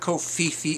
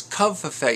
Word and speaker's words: covfefe: No, it's not Kofifi, it's Covfefe. You think the V is silent?